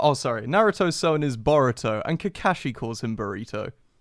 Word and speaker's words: Boruto: the Mexican food I well actually no it's more spelled like Dorito but with a B ah oh okay Gara Naruto's son is burrito and Kakashi no oh sorry Naruto's son is boruto and Kakashi calls him